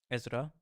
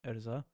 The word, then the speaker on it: Ezra: Ezra, not Erza.